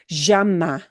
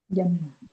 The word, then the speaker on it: llama: You can, if you are going to literally travel to Buenos Aires, llama is a good way to practice it. Llama. But in other places, they think, wow, are you from Buenos Aires? So, if you're not going to be in Buenos Aires, you probably don't want to use that variation.